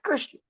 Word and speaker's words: Krishna: It's Krishna. Yes, That is my definitely. submission, sir. Definitely, pronunciation do matter.